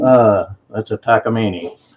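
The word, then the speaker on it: Takamine: what what what make is it can you pronounce the name uh that's a takini it's a takini 12 string and it was donated to our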